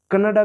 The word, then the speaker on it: कन्नड़: 37 subject है दोस्तों कनाडा जिसे कनाडा भी कहते हैं और जिसे कन्नड़ भी कहते हैं। यह उच्चारण हर जगह अलग-अलग होता है।